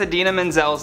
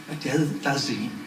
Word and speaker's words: Idina Menzel: Back in 2014, actor John Travolta famously mispronounced Idina Menzel's name while introducing her at the Oscars. Please welcome the wickedly talented one and only Adele Dazeem.